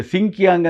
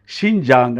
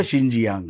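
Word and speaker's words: 新疆: ಇಂಗ್ಲಿಷಿನ Roman ಲಿಪಿಯ ಒಂದು ಸಿಂಕ್ಯಾಂಗ್ ಅಂತ ನೋಡಿ ಸಿಂಕಿಯಾಂಗ್ ಅಂತ ಅಂದುಕೊಂಡರೆ ತಪ್ಪಾಗುತ್ತೆ ಅದರ ಸರಿಯಾದ ಒಂದು ಉಚ್ಚಾರಣೆ ಶಿಂಜಾಂಗ್ ಅಥವಾ ಶಿಂಜಿಯಾಂಗ್ ಅಂತ ಈ ಎಲ್ಲದನ್ನು ಕೂಡ ನಾವು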